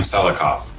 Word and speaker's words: Selikoff: How do you pronounce that? It's Selikoff.